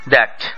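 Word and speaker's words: that: দাঁতও দেখা যাবে না অর্থাৎ বাংলা মতে থ আর ইংরেজি মতে থা এবং বাংলা মতে দর আর ইংরেজি মতে যা এক নয় দ্যাট দ্যাট দ্যাট দ্যাট দ্যাট দ্যাট pleasure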